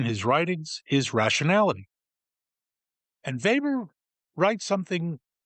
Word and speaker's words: Weber: For those who are German challenged, it's Weber, pronounced Weber.